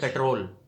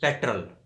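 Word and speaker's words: petrol: کی ساؤنڈیں دیتے ہیں۔ اور ہم کہتے ہیں پیٹرول، پیٹرول نہیں، پیٹرل، یہ ہے صحیح تلفظ۔ اور ایک ورڈ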